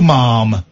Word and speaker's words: ma'am: Princess Charlotte, what may we do for you, ma'am? Ma'am. Rhymes with jam.